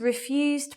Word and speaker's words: refuse: Residents refused plans for new refuse bins. There's the verb. There's the noun.